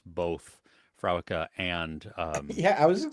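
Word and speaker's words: Fréwaka: Yeah, I had to look up how to pronounce both Frewaka and Yeah, I was just going to Antaisha.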